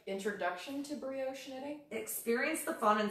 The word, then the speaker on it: brioche: This is Advanced Brioche. Is that how you say that word? It's how you say it, but I've never heard that associated with the word knitting.